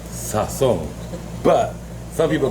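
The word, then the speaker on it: sazón: Actually pronounced sazon, but some people call it sazon.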